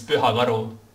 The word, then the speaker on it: Pyhakaru: In Estonian, it's Pyhakaru. Pyhakaru? Yeah, we have this word, this letter U, which you don't have it in your language, so it's...